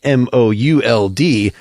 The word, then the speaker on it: Mould: Mould being M-O-U-L-D. I pronounced it Bob Mould.